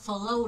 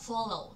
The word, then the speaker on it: follow: Chúng ta đọc là Follow đó nhiều bạn đọc là Follow là không đúng Chúng ta sẽ nói là Follow nhấn âm 1 nhá prepare nhấn âm